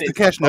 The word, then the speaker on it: Takeshita: I'm gonna pronounce it the way I see it. Bolo. But it is Takeshita though.